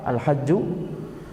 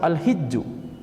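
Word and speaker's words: حج: Al-hajj bisa disebut dengan fathah al-hajju, bisa disebut dengan kasrah al-hijju. Akan tapi penyebutan dengan fathah itu lebih masyhur, ya, ibadah haji begitu, ya.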